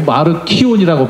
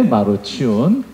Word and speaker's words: 마르치온: 뭐 마르키온이라고 발음하는 사람도 있는데 마르치온.